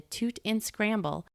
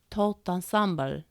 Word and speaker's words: tout ensemble: Carol, Sue, and the imp had also drifted over to admire the toot and scramble, as the imp insisted on pronouncing Louis's favorite French expression, tout ensemble.